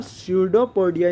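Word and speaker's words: pseudopodium: या सुडो का मतलब इसमें पी जो होता है वो साइलेंट होता तो ये होता है सुडो पोडियम इसको ऐसे इसको प्रनंसीएशन ऐसे कर जाता है शोल्डर पाउडर इसका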